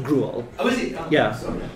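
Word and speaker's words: Griaule: Shepard told me the right pronunciation is Gruel.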